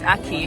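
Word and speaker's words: ackee: Aki, it's Aki. Aki. Aki. Aki. Like AKI. Yes. When you say Aki, it sounds like a key.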